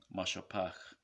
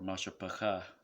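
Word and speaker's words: מִשְׁפָּחָה: is how you say mashapach, right, or mashapacha, which is really just mashapach, because that ha at the end is just silent, right?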